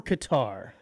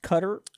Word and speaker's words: Qatar: Qatar or Qatar? I think it's pronounced Qatar, But if you want to sound like NPR, you say Qatar.